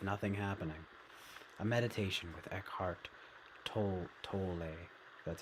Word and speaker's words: Eckhart: become comfortable with nothing happening a meditation with Eckhart that's how you pronounce it yodessa Mason I got this I